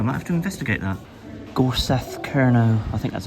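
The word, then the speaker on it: Gorsedh: I think it, like I said, I think it's pronounced Gors cuz the DH is a th.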